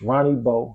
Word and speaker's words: Ronnie Bo: uh I made a new Facebook it's it's Ronnie Beau y'all know how to spell it r-o-n-i-e-b-o I made a new Instagram it's